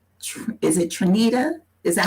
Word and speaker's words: Tanita: brooks um i met um is it trinita is that how you pronounce it yes i met you before at